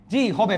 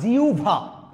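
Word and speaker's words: জিহ্বা: already আপনারা বুঝে গিয়েছেন হ এর সাথে বলা থাকলে উভ হয়ে যায় বিউ আহবান না আভ আভা গহবর না গভর জিহবা না জিউভা আশা করি এটা বুঝে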